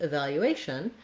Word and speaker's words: evaluation: So, and then same thing happens with evaluation. We have, here's another Asian word with the stress on the A. That means that our first syllable, letter E, is unstressed and it sounds like an I.